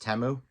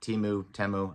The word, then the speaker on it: Temu: Super Bowl ad, I actually found out it's pronounced Temu. So my bad, Temu, I didn't know how to pronounce it.